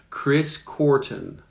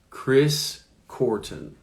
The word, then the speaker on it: Korten: Chris.Korten. Chris.Korten. All right. Job. How to pronounce job?